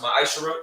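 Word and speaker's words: מעשר: Means 10th in Hebrew, and it's pronounced ma'ashara.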